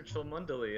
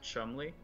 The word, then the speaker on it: Cholmondeley: about oh hey professor Tillman deli and no one knows who he is and then they realized he realizes that it's actually pronounced Chumley and then people know